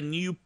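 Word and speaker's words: GNU: handbrake it's awesome and it's published under the new general public license New as in GN but pronounced new that's confusing but that's okay it's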